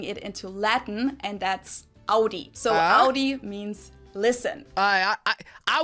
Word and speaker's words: Audi: Most Americans that I know pronounce it like I just said it, Audi. In German, we say Audi. Because I'm kind of closer than Audi.